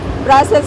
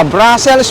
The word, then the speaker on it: Brussels: Brussels. Brussels. If you say Brussels, that is French. Brussels, that is English. And Brussels is Dutch or Netherlands.